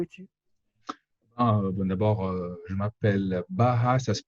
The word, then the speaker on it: Baha: je ne sais pas, c'est un B-A-H-A, Baha. donc puisque oui, donc c'est Avec un difficile. Donc H en français, ce prononcé. serait, oui, en français, ce serait Baha.